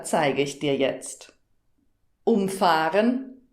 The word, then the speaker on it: umfahren: Umfahren, umfahren. Das ist das Beispiel vom Intro und ganz witzig, weil es das gleiche Wort ist, aber unterschiedlich betont wird und eben eine gegenteilige Bedeutung hat.